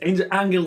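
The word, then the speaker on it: Ángel: Alright, it's Angel if you're American, but if you want to pronounce it properly, it's Angel Garza.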